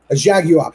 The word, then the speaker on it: Jaguar: and he had a Jaguar it's a three syllable word for those of you that say it wrong by the way jag you up he had a Jaguar